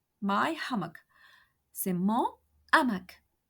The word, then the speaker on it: hamac: Mon habit, c'est mon hamac. My hammock. C'est mon hamac. Hamac is a word beginning with an aspirated H. H aspiré.